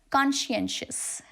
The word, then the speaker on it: conscientious: So there is no t, there is no sir. It's conscientious.